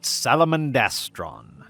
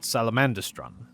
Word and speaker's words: Salamandastron: say listening to audiobooks the audiobooks pronounce it salamandastron not salamandistron so that's probably gonna bug me just because I've heard it the other way so much but we'll